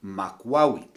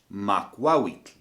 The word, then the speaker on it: Makwawitl: Well, this weapon is known as a Makwawitl. So just once again, in case you didn't get that, Makwawitl. And please note the way that I'm pronouncing the TL at the end.